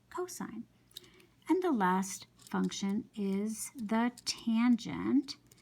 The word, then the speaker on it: cosine: You don't pronounce that cos, you say cosine. So you write COS as an abbreviation, but you pronounce it cosine.